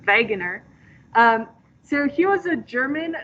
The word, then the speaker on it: Wegener: that all right alfred wegener because in germany they pronounce their w's like these because they're weirdos so it's veganer so he was a